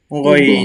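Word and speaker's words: غين: আইন আইন এবং গইনটা স্বাভাবিকভাবে অইন অইন, যেমন বাংলা গ আমরা বলি, সেখানে অইন, এই যে এখানে দেয়াই আছে, বাংলা উচ্চারণটা লেখাই আছে অইন অইন।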